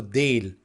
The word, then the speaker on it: değil: Now here, as I said, at the beginning of the lesson, the soft G is used here, but actually it's not pronounced so actively. That's why, as if there is not that letter. So değil, Now let's see different examples.